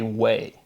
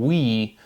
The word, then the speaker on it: oui: far from Quebec, but people will slur it and say way. O-U-I as way. And it's just a little thing, but again, you can hear phonetically the pronunciation going from we to way, and it's that E to A.